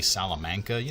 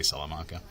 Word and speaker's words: Salamanca: This is the one that I showed you earlier from this town, Salamanca, New York, or it might be Salamanca. There's regional pronunciations, like in Texas, we would say Salamanca.